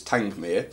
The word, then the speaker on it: Tangmere: and it's called Tangmere although for many months I actually called the challenge mirror and an order lot of people but supposedly the right way to say is tank Mir so she's a beautiful